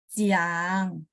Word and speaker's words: Jiang: Jadi pokoknya J ini bacanya C. C-nya kayak bahasa Indonesia C ya, cici ya.